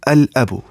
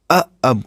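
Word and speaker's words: الأب: Then lam of alif lam will be pronounced, because huruf qamariyah are not pronounced with tip of tongue, but lam is pronounced with tip of tongue.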